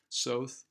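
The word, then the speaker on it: Soth: the website that it's south it rhymes with both so there's also very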